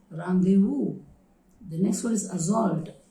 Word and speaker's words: rendezvous: This is also a word taken from French language. Okay, the spelling has got a different structure, but the pronunciation is rendezvous.